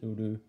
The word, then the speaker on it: Uru: We're only introduced to his name is Uru, or UHR, but pronounced as Uru.